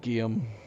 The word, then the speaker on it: Guillaume: Oh, Guillaume. Guillaume. Okay. That's what I was wondering. I was wondering if the L's were pronounced. So it's kind of like Guillermo.